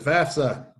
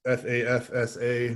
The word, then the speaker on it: FAFSA: to check out the fafsa notice it is fafsa not fafsa that is one of my pet peeves pronounce it right um it becomes available